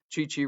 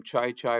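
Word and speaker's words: Chi-Chi: Called the great golfer Chichi Rodriguez, used to pronounce his name Chai Chai Rodriguez.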